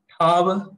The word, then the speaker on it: माझा: Gopi, the pronunciation of that THAV is very subtle, isn't it? Can you repeat that? Sure. It's thav. Again, tha when you touch the upper part of the mouth with the tongue, when you say thav.